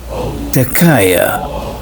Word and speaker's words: Takaya: So the word in Sudan, in the Arabic, Sudanese Arabic, is pronounced as Takaya, singular of Tekke.